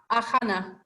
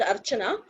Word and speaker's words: Archana: Ahana. Don't know how to pronounce that, but you're welcome. Come in and share your views from your group. Okay, it's pronounced as Archana.